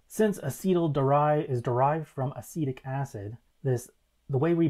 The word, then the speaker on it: acetic: Since acetyl is derived from acetic acid, the way we pronounce it, acetic, is how, or I should